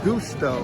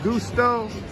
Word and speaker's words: gusto: Then we have G-U, would be gusto, like the flavor of gusto. G-U, gusto.